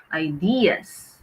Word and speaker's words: ideas: used for abstract ideas ideas not ideas but the stress is on the second syllable ideas ideas yes okay let's